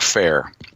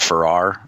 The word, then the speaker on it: Fair: time he emailed us, I pronounced it Farrar, but it's actually Fair.